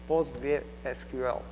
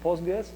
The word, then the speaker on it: PostgreSQL: the postra POG database postra SQL if it is full name I'm going to use postgress just because it is easier to to pronounce really um by the way you can hear POG SQL which is acceptable name as well so why H it